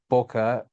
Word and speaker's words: Bora: If you want to get absolutely perfect, my last name uh Bora rhymes with C rather than car, but no pressure to pronounce it perfect.